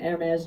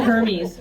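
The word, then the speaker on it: Hermès: since learned was an AES jacket I didn't even know how to pronounce that by the way when I left the White House I called it Hermes I I just I had no idea and so people keep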